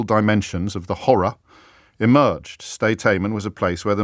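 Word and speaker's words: Sde Teiman: I can tell you that the place where this torture took place was, and I'll probably mispronounce it, Stay-Taiman. It's two words, S-D-E, new word T-E-I-M-A-N.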